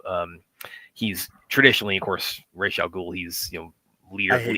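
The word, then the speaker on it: Ra's al Ghul: up calling him Ros I grew up calling him Ros I can go to Rosie I've been to the Middle East and I've when I when I I've heard it pronounced Ros over there I don't know Where did Race Al Ghoul come from? Where did that A sound come from?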